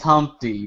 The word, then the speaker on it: Humpty: to like walk around my name is humpty pronounced with an umpty like you have to